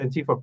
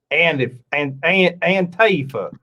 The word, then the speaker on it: Antifa: Can you say Antifa less like an American, please? Antifa. Antifa. Antifa. I keep putting the emphasis on the wrong syllable. Yeah, Antifa.